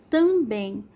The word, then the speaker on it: também: Bem é um som bem aberto e a mais forte é o bem. A tônica, né? A sílaba tônica é a sílaba bem. E como é um som aberto, nós vamos colocar o acento agudo.